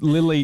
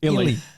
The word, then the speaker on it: Illy: you baby and is Lily Lily Lily you just butchered him illy IE i ly yeah